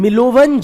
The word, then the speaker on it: Milovan: Perkin, Frank Perkin, scholars like Frank Parkin and Milovan Jilas, MILOVAN, N for Nagaland, MILOVAN, Jilas, DJ, हाँ D silent था थोड़ा, Milovan Jilas, MILOVAN, DJILAS, क्या हो गया ना?